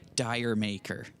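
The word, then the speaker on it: D'yer Mak'er: So this next piece we're going to play is a Led Zeppelin tune called Dear Maker, often pronounced in Canada, Dire Maker.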